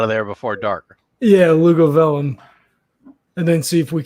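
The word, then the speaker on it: Luguvalium: And for those watching at home, I found a website to teach me how to pronounce the name of the town and shared it with everyone. And yes, for those of you playing at home, if you had Lugovalum, you were right.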